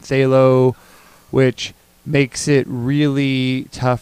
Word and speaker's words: phthalo: a hot mess yeah the pH is silent in say low which makes it really